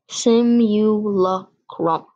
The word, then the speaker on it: simulacrum: of a skyscraper the origin is latin proper pronunciation simulacrum and that is today's word of the day